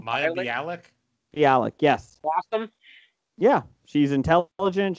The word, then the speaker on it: Bialik: Bialik, yes.